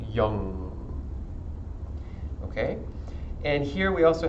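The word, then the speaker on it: yam: chakra is the sound young it is spelled Y a.m. but it is pronounced like long but with a Y so it's like young okay and here we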